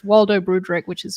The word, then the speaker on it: Broodryk: And for the audio listeners, it's Waldo Broodryk, which is spelled WALDO BROODRYK.